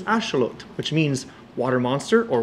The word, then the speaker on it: axolotl: Did you know that the word axelottle pronounced in nuatal, the native Aztec language, is ashelot, which means water monster or water dog.